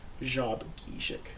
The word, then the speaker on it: Shabogesic: and now it's pronounced Shabogesic. And so the first sound in there is a zh sound. It's like a white noise sound, or in the word Asia.